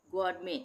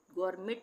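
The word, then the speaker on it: gourmet: जी ओ यू आर एम ई टी गरमे। इसको हम गर्मेट नहीं पढ़ेंगे। टी साइलेंट हो जाएगा। गरमे इसी तरह से ये है रेपोर।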